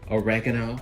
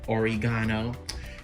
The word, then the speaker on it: oregano: Tablespoon of sugar, oregano or oregano. I just found out you can say it those ways, and it was funny how I accidentally said what did I say in my last video?